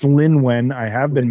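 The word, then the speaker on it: Lynwen: passing on to I think she started with Lewin, and please tell me haven't mispronounced her name 100 times. No, I think it is. Oh no, it's Lin Wen.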